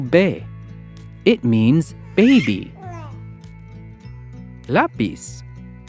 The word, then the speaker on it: lápiz: Lápiz. Lápiz. We stress the syllable la.